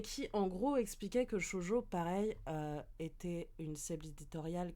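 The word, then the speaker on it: shōjo: Alors en fait, je t'explique, Alvin, Chojo, ça s'écrit S H O J O.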